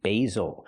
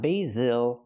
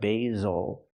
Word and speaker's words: basil: this word is basil use a long a sound for the first syllable like say and day B basil the S makes the ZZ sound like zebra make a vibration use your voice Z basil again not basil but basil because the stress is